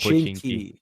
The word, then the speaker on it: Pochinki: put am I saying that right pochinki is is that how you pronounce it yeah definitely it's called pushing key yeah that's my center